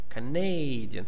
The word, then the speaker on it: Canadian: Compare the pronunciation of the first vowel in each word. Okay. Canada. Canada. Canadian. Okay. The stress is here. Here we have two unstressed syllables.